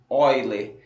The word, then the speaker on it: Euler: A gente escreve Euler, mas a gente lê, a pronúncia correta é Euler. Por quê? Porque este matemático, ele nasceu numa região que hoje é o território alemão, e naquela época a língua já falada era a língua germânica, tudo bem?